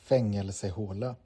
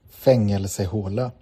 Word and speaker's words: Fängelsehåla: Fängelsehåla. And I don't think that's, let me turn that up. Fängelsehåla. Fängelsehåla.